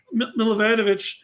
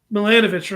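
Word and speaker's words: Milanovich: But if there's as long as Scott Milivanovic, is that his name? Yeah. I thought I had this wrong. As long as he uh I thought I said his name wrong. Like that's something I'm right. Yeah, of course. Milanovic, right? Yeah. I thought that was Milivanovic. I'm like, that's not right.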